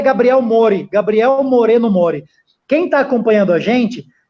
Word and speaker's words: Gabriel Moreno Mori: Mas vamos lá, o nome dele é Gabriel Moreno Mori. Quem está acompanhando a gente, segue o Gabriel no Facebook. É muito simples, é como se fala, Gabriel Moreno Mori.